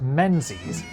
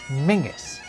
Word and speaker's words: Menzies: Scottish name isn't pronounced Menzies, it's pronounced Mingis, because that didn't used to be a Z, it was a Yogh.